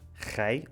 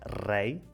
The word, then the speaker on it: rei: A palavra rei é a primeira letra, rei ou rei, guerreiro ou guerreiro.